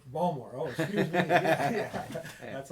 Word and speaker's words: Baltimore: when he's from Baltimore it's called balmor Baltimore oh excuse me that's